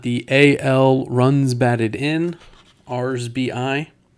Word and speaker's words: RBIs: Then we've got the AL runs batted in, RSBI. I'm told that is the actual correct way to say that, RSBI, not RBIs.